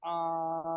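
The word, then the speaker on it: العالمين: গেল আর উচ্চারণ আলাদা আ টা হবে একদম থেকে গলার একেবারে ভিতর থেকে আইন আলাদা আ লাম আলামিন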